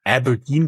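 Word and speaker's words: abrdn: next you exited with fin mice to It's pronounced Aberdine but it's spelled a DN all in non-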